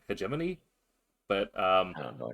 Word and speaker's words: hegemony: That's how I voice that is hedgeimony, but I believe it's hegemony.